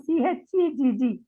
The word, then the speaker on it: Chegg: You said subject expert in CHEGG. What is the CHEGG? Ma'am, CHEGG, I pronounce it CHEG.